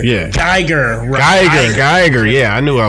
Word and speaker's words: Geiger: Like with the G. Geiger. Yeah. Geiger.